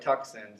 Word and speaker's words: Tucson: you you know it it sounds like tuxen spelled out and if you try